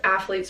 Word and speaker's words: Aflete: to the Athlete app, which is athlete spelled like AFLETE, and I'll link that in the description below.